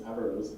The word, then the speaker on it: Averroes: I dropped a syllable to make it easy, so it's Averroes, but it's pronounced Averroes in Latin, who was a Moorish Aristotelian.